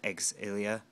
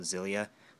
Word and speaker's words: Xillia: stateside now um and yes it is pronounced eggs ilia some people just call it zillia but that's not correct and i don't know